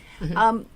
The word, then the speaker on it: Keahau: You know what I love also, and maybe you can speak to this also, Keahau. I'm sorry, I mispronounced your name. Nope, that's right. Okay. Keahau.